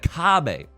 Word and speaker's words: kabe: It's a little bit of Kabe in your life, a little bit of Sandra's All I Need. And it's spelled K-A-B-E in case you want to look it up and level up your Mahjong gameplay.